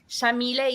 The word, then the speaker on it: Yamile: So Shamile is an Arabic name pronounced with an Argentine accent. We say the Y like an SH.